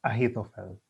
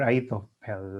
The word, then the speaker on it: Ahithophel: by the name of Ahithophel, or Ahithophel, as other people would like to pronounce his name.